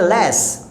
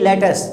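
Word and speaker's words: let's: लेटस को हम लोग बोलते हैं लेस, यानी थोड़ा सॉफ्ट बोलना, लेस, ओके, ये नहीं लेटस, तो हम लोग इसे बोलेंगे लेट्स go, okay, लेट्स play, लेट्स come back, not actually लेटस, okay.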